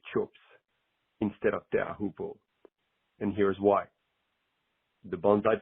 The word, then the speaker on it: Teahupo'o: First of all, let me just say bravo to the both of you on your much improved pronunciation of the word Teahupo'o.